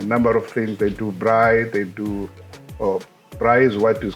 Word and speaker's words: braai: 南アフリカではですね、ブラーイというカルチャーがあるんですが、一体何のフードに関することなのは間違いないんですが、どんなことなのか大使に伺いたいと思います。Ambassador, we heard about the culture of braai. I don't know my Yes, pronunciation is good with perfect.